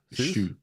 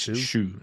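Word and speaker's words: Hsu: Kerry Corden for The Banshee, Jamie Lee Curtis for Everything Everywhere, and Stephanie Shu. It's Shu, I think is how it's pronounced.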